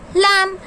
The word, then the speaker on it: lamb: Now this is lamb. So here also which word is silent? यहाँ पे कौन सा word silent है? कौन सा letter silent है? B.